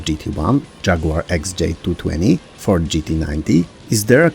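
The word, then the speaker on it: Isdera: And these are McLaren F1, Ferrari F50, Lotus GT1, Jaguar XJ220, Ford GT90, is there a Commendatore 112i, and yes, that's how it's pronounced, Ital Design Kala, Lotus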